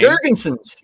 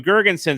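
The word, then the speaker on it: Girgensons: eakin zemgus i can't even say his name jerkinson gergenson's thank you gerginson's it sounds like something you do when you're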